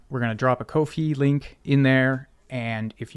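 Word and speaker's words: Ko-fi: do is drop the I am told it is pronounced Kofi uh which is sort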